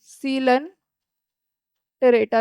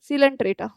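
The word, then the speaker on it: Coelenterata: पहला पॉरीफेरा, दूसरा नाइडेरिया भी लिख सकते हो, और सीलन टेरेटा लिख सकते हो। ठीक है, नाइडेरिया एंड सीलन टेरेटा। तीसरा है टीनोफोरा। नाइडीरिया साइलेंट है, ठीक है।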